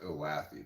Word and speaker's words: Olathe: You live 1.5 miles from Olathe now? It's actually pronounced Olathe, by the way.